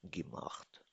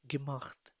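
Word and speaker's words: gemacht: I have done my homework इशाब my house of गिमाख्त pronounce me गिमाख्त गिमाख गिमख्त इज़ पार्टिसिपली।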